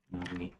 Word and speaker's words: Nomi: is going to be Nomi. And yes, I realize Nomi might uh might sound lazy due to being like the word and know me is a long O sound made to know me